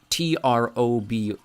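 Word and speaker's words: trobwl: Trob, I said, thinking of the word trouble, but with that weird double L hissing thing at the end.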